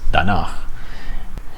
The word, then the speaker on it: danach: I might have thought it was danach, but it's danach.